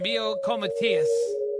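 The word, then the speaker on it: Miljenko Matijevic: And speaking of great voices, if you're talking about Steelheart and Mio Comatias, that's the way you pronounce it.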